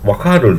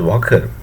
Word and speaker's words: Waqar: Waqar Zaman. Some people pronounce this Waqar as Walker.